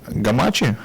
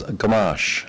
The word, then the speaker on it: Gamache: gen Logistics Capital gamachi do I pronounce it right actually just a little bit differently it's gash gash I am so sorry it's okay it's it's softer and gentler okay uh hello